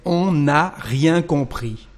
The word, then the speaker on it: on n'a rien compris: And here, the letter N here of the negative form is going to disappear, but because we've got here another N, actually we will have the same pronunciation. Okay, so we will say on n'a rien compris. On n'a rien compris. The pronunciation here is the same with the N apostrophe or without.